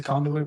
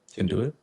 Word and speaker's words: conduit: It kind of sounds like can't do it.